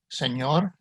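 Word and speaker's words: señor: like a y in with a tilde it's pronounced in spanish like io in onion or ny in canyon senor nino r in spanish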